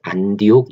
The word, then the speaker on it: 안디옥: 세운 도시의 이름이 내 우리 개역성경 발음으로 안디옥 이라고 하는 도시입니다 그 안교 기 시리아의